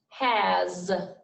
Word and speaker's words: has: like a z and this word here sounds like a z but it's not a z has has he is his